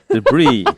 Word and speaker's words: debris: a letter doesn't mean that that letter is pronounced oh so it's a debris i'm so sorry but like that feels like